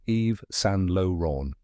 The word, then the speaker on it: Yves Saint Laurent: the correct pronunciation is Eve San Lon let's break it down step by step the first part is Eve like the name Eve but without the e